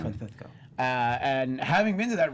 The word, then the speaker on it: Francisco: Say it right. The Castilian pronunciation. Francisco.